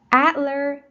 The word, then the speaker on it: Adler: Adler Planetarium. Adler Planetarium. Adler, first syllable.